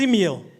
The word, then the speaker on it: Emile: Folks, my name is Emile. Spelled E-M-I-L-E. The last E is silent.